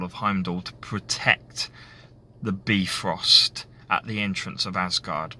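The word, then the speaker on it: Bifröst: what be Frost is the be frost or the by frost as you may sometimes hear it pronounced was the Rainbow Bridge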